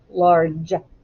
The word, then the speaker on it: large: the ar and then what sound does the g make d large yeah it makes the sound of j and the e is silent large but it's spelled l-a-r-g-e now if you're on your ipad